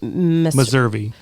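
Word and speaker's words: Meservey: Uh but yeah 14.9 miles from Ventura and it's um pronounced Missouri.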